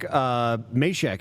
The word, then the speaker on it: Mizysak: The Supply Chain Ninja, Derek Mizysak is how he says you pronounce his name. I would say Smith, but Derek Mizysak.